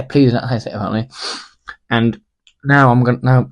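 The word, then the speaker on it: Plzeň: Victoria pleas that's app that's how you say it to pleas or yeah pleas and now I'm going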